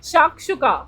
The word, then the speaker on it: shakshuka: Can you pronounce this? Isn't this too simple? Shakshuka.